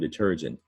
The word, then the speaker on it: detergent: middle syllable term envelopes deter gent also stressed on the middle middle syllable both are three syllable